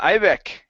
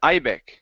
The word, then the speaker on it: Ibec: pronouncing your name correctly is it ibeek yeah right right ibec yeah you said right okay good good and